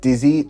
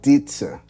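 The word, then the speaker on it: 笛子: So we have the dizi or the dizi, which is how it's pronounced in the Chinese native language.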